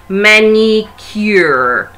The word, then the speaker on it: manicure: Manicure. Eu pronuncio o som do C e eu pronuncio o som do U, porque a letra em inglês é U, ok? U. Então, eu pronuncio U, manicure. Cure, alright?